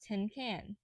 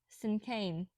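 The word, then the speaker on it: cinquain: have heard me correctly the word is pronounced like the word sin and can sin Kane May crossed her arms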